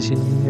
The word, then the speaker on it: Ski: Oh iya, di sini Mas Yo tulisannya ski, tapi bacanya si loh ya.